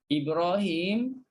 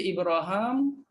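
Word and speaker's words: إبراهيم: Ibnu Zakwan pula, Ibrahim boleh baca dua wajah. Boleh baca Ibraham, boleh baca Ibrahim.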